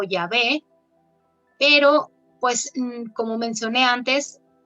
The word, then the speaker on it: Yahweh: Y también ahora vamos a ver en la siguiente diapositiva que ya no se sabe exactamente cómo se pronunciaba y probablemente era Yahweh o Yahvé, pero pues como mencioné